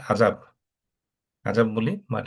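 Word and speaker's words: عذاب: আমরা বাংলাতেও বলি না আজাব, আজাব বলি, বাট এটা হচ্ছে অ্যারাবিকে উচ্চারণটা হবে আইন দিয়ে শুরু হবে, আজাব।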